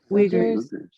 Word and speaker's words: Uyghurs: I feel bad, I don't know how to pronounce this. Uyghurs.